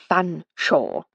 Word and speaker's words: Fanshawe: One day I shall get you to say Fanshawe, you know, he said with a chuckle.